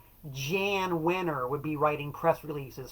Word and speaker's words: Jan Wenner: Jan Wenner, note the pronunciation on that, Jan Wenner would be writing press